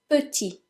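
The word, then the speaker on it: petit: aware of is that the T is silent because if you remember from previous lessons very often in French if the final letter is a consonant it's usually silent so for example la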